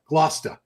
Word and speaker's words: Gloucester: Glouch Glou G Gloucester looks like on paper it's a big fishing fishing up north say Glos Glosta. So that's how that's how you say it? That's how we say it.